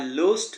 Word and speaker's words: lose: আই লুজড দ্য dog into the field. LOOSED। আরেকটা হচ্ছে LOSE, সেটার উচ্চারণ লুজ হয়।